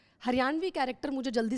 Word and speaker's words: हरियाणवी: इट्स नॉट हरियाणवी, इट्स हरियाणवी.